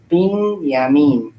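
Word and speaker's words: בנימין: 빈, 야민.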